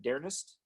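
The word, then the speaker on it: D'Ernest: deep dive with darren how do you pronounce it dearness yeah i think it's yeah dearness yeah dearness dearness yeah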